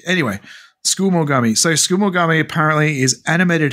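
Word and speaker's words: tsukumogami: Skumogami. Skumogami. Skumogami. There you go. Skumogami. Yeah, sorry. Skumogami. No, it's the suk. The SU is silent. It's school. Okay. You skip the first U. Anyway, Skumogami.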